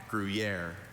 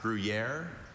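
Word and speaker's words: Gruyère: There are a couple. I have grriier. Also, griier. Griier.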